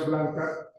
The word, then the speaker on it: Blanchard: El libro es Gunjo a la carga, de Ken Blanca, se escribe Blanchard, se pronuncia Blanca, y es un texto supremamente interesante.